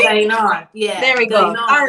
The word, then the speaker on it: Guyana: Gain on. Oh, yeah, you're close. I was trying to practice. I totally butchered that. Guyana. Did I say it right? Guyana.